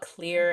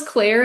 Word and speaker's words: Clear: I totally thought it was Claire and they were pronouncing it weird until I turned subtitles on.